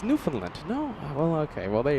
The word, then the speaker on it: Newfoundland: I It's Newfoundland. No. Well, okay. Well, there you go. We have a few locals uh letting us know how it's pronounced. New Finland.